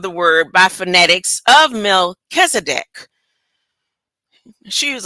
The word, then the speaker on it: Melchizedek: This emphasis is on the second syllable Kiz.